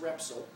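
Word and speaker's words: Repsol: national oil company and I think it's pronounced repol might have pronounced repol but it doesn't matter it's R Sol they have a national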